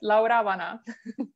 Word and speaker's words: Laura Vana: You want to pronounce it for the audience? Yes, so I call myself Laura Vana.